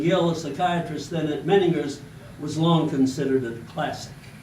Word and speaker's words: Menninger: By the way, if you really know about the Menninger Clinic, if you pronounce it Menninger, if you're pronouncing Menninger, that means you never knew anything about the Menninger Clinic. They pronounced it Menninger.